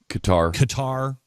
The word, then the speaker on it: Qatar: It's like the pronunciation of of uh gutter. It used to be uh Qatar. It was cutter for a while.